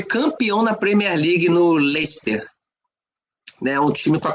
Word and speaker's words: Leicester: na Premier League no Leicer, né? Um time com a camisa azul. Não sei, não sei como é que eles no português se se pronuncia da mesma forma, mas se escreve Leicester.